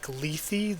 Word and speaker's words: Lethe: Oh, I think the word is actually Lethe. The word that the name is based on is pronounced Lethe, but I hate the way that sounds.